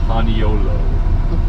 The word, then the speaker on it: paniolo: So when the Mexican cowboys got out here, they were saying Espanol, Espanol, and the Hawaiians started calling them Paniolo.